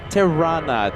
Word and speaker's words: Tirana: Tirana.